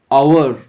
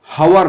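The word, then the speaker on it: hour: দেখো এইচ এর উচ্চারণ যদি হয়ের মতো হয় এ বসবে, হয়ের মতো না হলে অ্যান বসবে। তাহলে এই উচ্চারণটা আওয়ার, হাওয়ার নয়, আওয়ার, আওয়ার, আওয়ার, তাহলে হয়ের মতো হয়নি তাই অ্যান বসে গেল।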